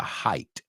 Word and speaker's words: height: Lo más alto, the height. Right? Height es altura. Cuidado con la pronunciación, es height. Height. It sounds like martial arts, artes marciales. Height, height, hiya, height, height.